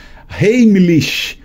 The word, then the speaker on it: Heimlich: Esse Heimlich escreve com H-E-I-M-L-I-C-H, Heimlich, se pronuncia Heimlich, tá?